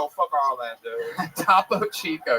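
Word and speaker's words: Topo Chico: Tapo Chico. Yes, that is exactly how that's pronounced. Don't ever change it.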